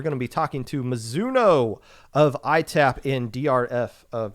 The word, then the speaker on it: Mizuno: Am I pronouncing that correctly? Mizuno. Yeah, Mizuno, like the Japanese brand.